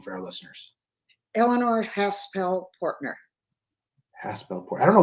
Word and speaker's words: Haspel-Portner: how it's what's the the the correct full pronunciation of your name for our listeners Elanor haspel pner haspel Port I don't know why you struggle